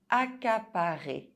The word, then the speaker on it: accaparer: Accaparer, occuper. Double C followed by a consonant is pronounced K.